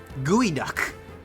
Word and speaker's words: geoduck: Gooey Duck. Why is the E before the O then, though? Whoever named that thing needs to understand how to pronounce stuff.